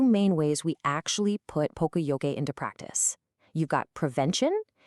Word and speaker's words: Poka-Yoke: Poka-Yoke, and you say it like Poka-Yoke, is a Japanese term that literally means mistake prevention.